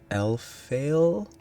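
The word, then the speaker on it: Elphael: and welcome back to L fail I guess is a pronunciation of e l p h a e l which is the brace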